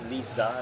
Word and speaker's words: Liza: hi hello um yes you actually pronounced like lisa like okay yeah it's the l is not dark l it's dark l it's not dark so it's not dark it's light l and the dark is